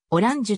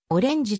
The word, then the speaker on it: Orange: も解消した車名の発音はフランスもではオランジュとなるただし一部のフランス国外拠点では従来からの英語読みのオレンジとも発音される主に以下の 3